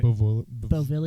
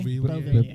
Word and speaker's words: Beauvillier: Beauvillier. Beauvillier.